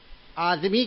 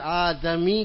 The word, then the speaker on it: آدمی: آدمی کہتے ہیں نا، اس لیے آدمی کہنا غلط ہے، آدمی کہنا ہے، دال مفتوح ہے، دال پر زبر ہوگا، ہم جب اس کا تلفظ کریں گے تو آدمی کہیں گے. کیوں کہ آدم دال وہاں مفتو ہے نا.